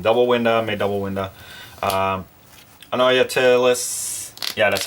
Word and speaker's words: Anoyatilis: Anoyatilis, yeah, that's how you say it.